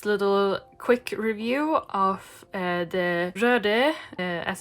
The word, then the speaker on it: Röde: Hello and welcome to this little quick review of the Röde, as it's pronounced, Smartlav Plus and the Boya BY-M1 and